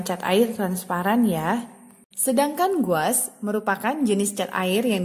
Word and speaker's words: gouache: Mungkin tulisannya di sini seperti susah disebut ya, gouache seperti itu, tapi sebenarnya cara bacanya adalah gouache.